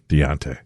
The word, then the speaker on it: Deante: Sincerely, is it Dante? D-E-A-N-T-E? Deante? Spell that again. D-E. It's like Dean and T-E. Dean T? Deante? Deontay.